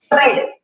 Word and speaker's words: read: Dice, read, red. Red color. Se parece a color rojo. Read, red. Escriben igual, pero la pronunciación cambia.